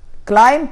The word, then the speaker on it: climb: يبقى wash تبقى washed، climb تبقى climbed، تمام. والبيمة بتتنطقش، دايما الامة ما تيجي مع البيمة يتنطقوش، يبقى اسمها لغاية climb، climb بس كده، لكن ما نقولش climb، لا climb تبقى climbed، يعني قفز، تسلق.